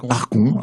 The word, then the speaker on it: ArgoN: acoustique, mais ce soir avec toi Argon, on prononce comment ? Argon.